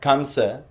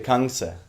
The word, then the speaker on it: Kamsa: And so the same with Kamsa, it's actually Kangsa.